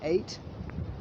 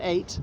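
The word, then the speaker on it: ait: here created by the eight and eight spelt a-i-t or e-y-o-t um is an island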